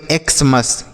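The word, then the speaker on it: Xmas: तो इसे हम पढ़ेंगे एक्समस।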